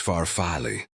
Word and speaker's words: farfalle: "It's farfalle."